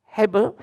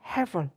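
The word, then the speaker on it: הבל: dalam bahasa Ibrani yaitu Hebel atau dibacanya Hevel.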